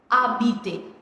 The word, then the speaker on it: habiter: Habiter. Now over here H is silent because it is a vowel.